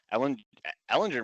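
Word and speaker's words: Ehlinger: I've heard it pronounced both ways all day today. I say Ellinger. I say Ellinger too. It seems like it rolls off the tongue a little more.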